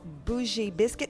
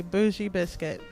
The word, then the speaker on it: Bougie Biscuit: place I love the name of your place is called boozy biscuit and my saying it's the right way I saying it correctly bougie biscuit so how did you